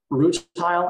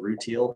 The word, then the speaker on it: rutile: live Chrome gems so root tile and some people pronounce it routine it just depends on like what country you're in um so synthetic rutile